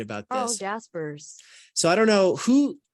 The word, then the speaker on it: Jaspers: that put me under the impression it's definitely Jasper's but whatever it's Jaspers hey at the end